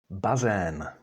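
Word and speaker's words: bazén: healing mha that's fog and those are walls bazan bazan and that is a swimming pool that's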